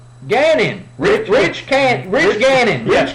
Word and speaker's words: Gannon: what was his name rhymes with cannon Gannon rich rich can't regaining